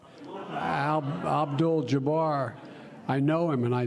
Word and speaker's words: Abdul-Jabbar: for we cheer for Muslim athletes like Kareem al-jabbar Abdul-Jabbar I know him and I zip mispronounced his name so I'm trying to think